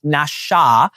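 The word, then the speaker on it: נשא: and it and it literally is spelled N A SA, but you would apparently in Hebrew pronounce it Nasha.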